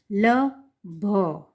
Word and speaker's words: लभ: ठीक है, ल भ, आप जब प्रोनाउंस करते हैं क्या, ल भ, लब प्रोनाउंस करते हैं तब भ के पीछे अ लगता है। प्रोनाउंस करके देखिए, बोल के देखिए, ल भ, भ के पीछे अ स्वर आपको सुनाई देगा जब आप बोल रहे हैं, है ना?